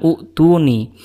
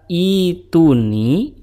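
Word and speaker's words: ائتوني: Kenapa dibacanya ituni bukan utuni? Padahal berdasarkan kaidah kalau huruf ketiganya itu dhammah, maka hamzah wasalnya juga dibaca dhammah. Untuk itu teman-teman kita akan bedah apa yang menyebabkan hamzahnya dibaca kasroh bukan dhammah.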